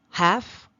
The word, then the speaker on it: half: CF okay CF Cavs half haves do not pronounce that L either do not pronounce that